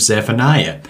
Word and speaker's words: Zephaniah: a study in the minor prophet of Zephaniah or zephania as the name is actually pronounced the name comes from two words zephon